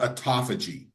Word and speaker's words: autophagy: But there's a term that we refer to in cellular medicine that's called autophagy or autophagy. It's pronounced both ways.